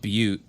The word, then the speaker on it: Butte: It's called Butte, but it's spelled B-U.